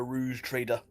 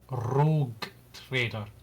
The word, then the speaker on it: Rogue Trader: Uh, uh, Rouge trader. Rouge trader. Rouge trader. That is how you pronounce it, correct? No. Rogue traitor or just call me Lord Commander.